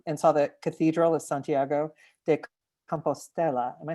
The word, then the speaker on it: Santiago de Compostela: And Fred, you described this moment where you walked into the plaza and saw the Cathedral of Santiago de Compostela.